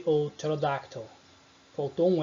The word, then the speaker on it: pterodactyl: São exemplos das palavras pneumonia, psychology ou pterodactyl. Faltou um L ali, mas tudo bem, vamos sobreviver. Enfim, percebam, eu não pronunciei pneumonia, é pneumonia. Psychology, eu não pronunciei psychology. Também não pronunciei pterodactyl, é pterodactyl. Beleza?